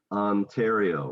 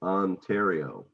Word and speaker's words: Ontario: see my mouth opening ontario yeah and then you have that one is interesting because you have both the short and the long so ah right ontario ontario right now yeah and